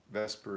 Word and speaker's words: VSEPR: Vesper is spelled VSEPR.